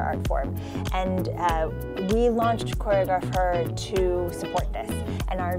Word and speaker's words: ChoreograpHER: You have this exciting program, Choreographer. Yes. Am I pronouncing it right?